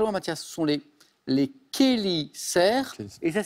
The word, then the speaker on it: chélicères: Ce sont les chélicères. Et ça s'écrit ch. Ça s'écrit CH, mais on dit les chélicères.